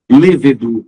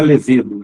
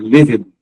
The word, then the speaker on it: lêvedo: caiu no ca tá lêvedo da cerveja não é levedo é lêvedo alacre alegre crisântemo não